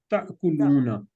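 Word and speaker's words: تأكلون: अच्छा, ये pronunciation sorry, जब इसको प्रोनाउंस करना ना तो ताकुलू करना है, क्योंकि अलिफ के ऊपर ना हमजा भी आ रही है, तो इसको थोड़ा झटके से बोलना, ताकुलू ताकुलूना।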